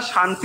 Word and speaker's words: শান্তি: কিন্তু যখন আমরা শান্তি উচ্চারণ করব তাহলে মনে রাখবো এটা হচ্ছে তালব্যস শান্তি শান্তি শান্তি। এটা শান্তি নয় বা শান্তি এটাও নয়।